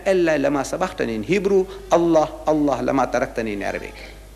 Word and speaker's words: Allah: It is not Allah, it's Allah.